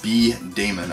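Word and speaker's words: B-Daman: We have Bomberman B Damon, I think is how it's pronounced, D-A-M-A-N.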